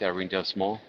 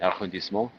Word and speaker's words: arrondissement: into their apartment in the 4th arrondissement, not pronouncing that correctly, arrondissement, in the Marais in Paris.